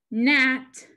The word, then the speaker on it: gnat: Gnat, The G is silent.